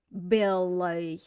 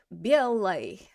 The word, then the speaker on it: белой: Now the ending is not stressed, so how do we pronounce that oi? Белой. Белой.